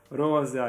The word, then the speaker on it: rosea: trusty Granda Rosa Rosa Rosa is actually how you should say I mean pronounce it you won't disappoint